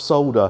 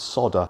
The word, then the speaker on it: solder: It's sodder. S-O-D spells sod. S-O-L-D spells sold. Put an E and R at the end. Sodder. Solder. On that bombshell, it is time to end.